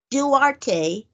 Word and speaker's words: Duarte: They got Chris Duarte. I think I pronounced that correctly.